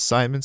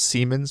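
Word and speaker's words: Siemens: And just recently in New York, the Spanish the Spanish CEO, not like the main CEO of Seammens, I think it's pronounced, it's German, it's not Simons, Seammens, which is okay.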